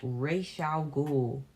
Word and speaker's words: Ra's al Ghul: This guy, it's pronounced Ra's al Ghul.